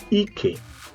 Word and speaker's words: ike: We call the ike. Ike. Not ike. Mind you, the intonation has to be, or the pronunciation has to go down. Ike.